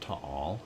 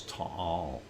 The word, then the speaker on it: Taal: And no, it's not Taal, it's Taal.